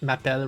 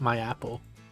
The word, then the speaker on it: m'appelle: Maybe it's the way she seemed to think M'appelle rhymes with my apple.